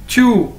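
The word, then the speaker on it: 住: ये देखें दोस्तो, हमारे पास आज जो word है वो है chew, Z-H-U, chew, ठीक है?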